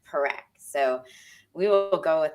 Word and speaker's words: Parekh: I met Raj about a year ago, and I have been struggling forever saying his last name, and I have finally learned to say it correctly, Parekh.